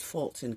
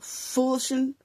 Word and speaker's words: Fulton: And make change First of all, it's Fulton County, okay? It's not Fool. Fool Fool-shun Fool-shun County?